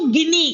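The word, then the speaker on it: Guinea: Hispaniola है, या न्यू गिनी, इसका जो प्रोनाउंसिएशन है बच्चा दैट इज गिनी, हवाई एंड मेनी अदर,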